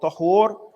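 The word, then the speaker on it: طَهُور: So when you hear the word tahur pronounced al-maftuha with a fatha on the ta, it is referring to the name of something that you utilize to do something.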